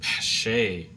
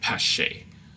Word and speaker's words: Pache: be wrong, and so I think Pache is pronounced like that, Pache.